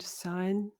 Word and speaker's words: Samhain: As I said, it's my favorite, Samhain, often pronounced Samhain, but it's actually the MH is a kind of silent sound, Samhain.